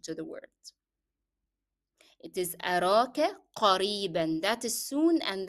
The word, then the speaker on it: قريبا: It is أراك قريبا, that is soon, and that is the n sound in قريبا is part of the pronunciation of the word, so you cannot drop it as you stop. You have to say it with the tanween.